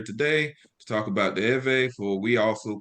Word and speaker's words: Erverh: Erverh means Hebrew. That's the real pronunciation of the word Hebrew.